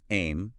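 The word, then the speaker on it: ऐं: Sarasati's bisha or seed mantra is aim pronounced just like it looks a I am aim.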